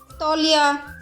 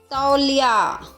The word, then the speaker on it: तौलिया: बच्चों ये शब्द भी आजकल बोलचाल की भाषा में इस तरह बोले जाते हैं। पौधा, दौलत, तौलिया, जो कि सही उच्चारण नहीं है। इसका सही उच्चारण कैसा है?